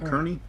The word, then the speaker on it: Kearney: what was his name kearney kearney kearney yeah sounds like gurney yeah that kind of rhymes with gurney hernia look i'm running